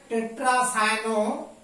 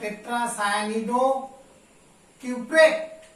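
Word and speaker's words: tetracyanidocuprate: দেখো টেট্রাসায়ানো, অ্যাকচুয়ালি উচ্চারণটা হবে টেট্রাসায়ানিডো কিউপ্রেট।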